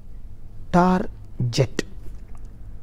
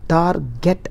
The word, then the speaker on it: target: is the status okay yet another common word i saw strongly pronounced is tar jet the word tar get is generally mispronounced as tar jet it's not jet come on guys it is target all right let us